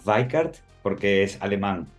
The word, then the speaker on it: Weickert: No, mira, el apellido se pronuncia Weikart porque es alemán y la pronunciación es con